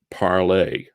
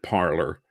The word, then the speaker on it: Parler: It's spelled Parler, but it's pronounced parlay.